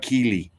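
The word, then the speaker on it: Killy: JeanClaude Keely Keely.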